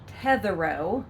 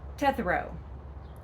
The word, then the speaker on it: Tetherow: It's not Tetherow, like the word tetherball. If you're of a certain age, you played tetherball. But that's not how you say it. Say it quickly, say it fast. It's Tetherow.